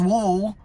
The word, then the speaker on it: WLW: by curious somehow and then there's wool which again is the way you're supposed to pronounce it but it stands for women loving women and it's different from